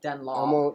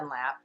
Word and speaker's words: Dunlop: So Dunlop, I know that's the way you're supposed to pronounce it, Dunlop. You know but we what I'm say talking about. Dunlap.